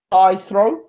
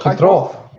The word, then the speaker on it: Khitrov: Kithrov. Oh, Khitrov. Kithrov. Right. It's kind of like H.